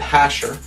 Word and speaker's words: Jasher: I said, what's the book of Jasher, or others pronounce it Hasher?